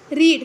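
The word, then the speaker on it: read: book ठीक है देखिए रेड का जो थर्ड फॉर्म होगा ये हमारा ये रीड ही रहेगा इसको पढ़ने के तरीका बादल जाता है रेड रेड ठीक है बाकी स्पेलिंग यही रहती है ठीक है तो हमने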